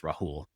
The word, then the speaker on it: Rahul: I respond to both, but the original pronunciation is with the H. Rahul.